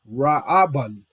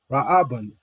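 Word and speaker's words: ראובן: So when we look up Reuben, you would say his name in ancient Hebrew, Ra'aban. Ra'aban. Raawban.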